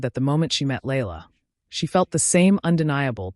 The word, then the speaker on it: Layla: second child, a beautiful little girl named Layla, pronounced Layla.